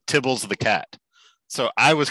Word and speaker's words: tibble: So I was convinced that he had named Tibble after Tibbles the cat because he's from New Zealand. But no, he just named it Tibble because that's how people were pronouncing TBL.